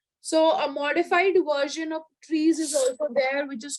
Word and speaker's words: trie: So a modified version of trees is also there, which is called as, it's again pronounced as tree, but it's written as TRIE.